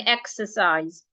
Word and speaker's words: exercise: Now, if I want to pronounce this word, the first syllable will be my stressed syllable. It means that the first syllable is a syllable that I'm going to say louder, longer, and clearer.